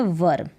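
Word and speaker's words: were: और ये है वर, इसको वर पढ़ेंगे, अगर इसको वेयर पढ़ते हैं तो गलत उच्चारण है।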